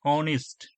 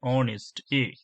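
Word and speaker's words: honest: নেক্সট দেখো যে সি ইজ অ্যান অনেস্ট, H O N E S T, অনেস্ট, উচ্চারণ আসছে, এই কারণের জন্য কি হলো, এখানে অ্যান বসলো।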